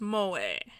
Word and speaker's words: moe: Pronounced Moe.